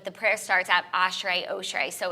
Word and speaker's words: Oshry: but we started like we say ASHRAE just cuz like I prefer and I don't know like an AA instead of an O yeah in general like that very uh my axe right so I'm sure it's like oshri so other people will